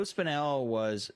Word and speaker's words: Spinell: Yeah, he's Joe Spinelli.